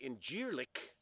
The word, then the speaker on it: Incirlik: Some people, the locals say Incirlik, but we have an air base there, and so reportedly 50 tactical nukes in Incirlik or Incirlik.